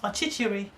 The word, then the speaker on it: Ọchịchịrị: Just break it down into 4 syllables. Ọchịchịrị. Darkness. Ọchịchịrị na-atụ m ụjọ.